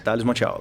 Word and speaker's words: Thalles Mont'Alto: Thales Monte Alto, é assim que pronuncia? Isso, exatamente, Thales Monte Alto.